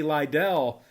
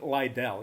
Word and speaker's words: Liddell: E.J. Liddell, or Little, however you want to pronounce it. I like Liddell.